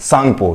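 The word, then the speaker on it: Tsangpo: इसकी जो शुरुआत होती है इंग्लिश में, वो ST से होती है, तो T साइलेंट होता है, और सांगपो, तो इसका तिब्बत में नाम है सांगपो।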